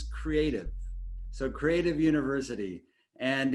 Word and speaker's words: CREATV: guys were all wondering how you pronounce the name it's creative so creative university and